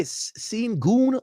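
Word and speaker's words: Şengün: But but but the Shangon dude I how do they say his name? They say Senon like his name actually.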